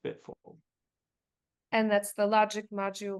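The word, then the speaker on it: BTFLD: d but F five letters five letters but pronounced bit full and that's the logic module which you use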